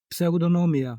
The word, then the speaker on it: Pseudonomia: I can't give your name proper pronunciation with my American tongue here. No, I, it's okay. As you like. Pseudonomia. So Pseudonomia. yeah. Close.